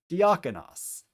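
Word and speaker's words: διάκονος: It is 2 vowels that are going to be pronounced separately from one another. So the first syllable is D. The next syllable is ak, as in the alpha kappa. The next syllable is on, omicron nu. And the last syllable is os, omicron final sigma. So D, ak, on, os. Put it together a little faster, diakonos.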